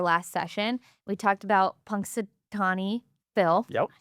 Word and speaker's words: Punxsutawney: We talked about Punxsutawney Phil.